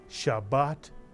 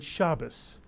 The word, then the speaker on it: Shabbat: often hear people also say good shabas which uses the ashkenazic pronunciation of Shabbat but you'll also hear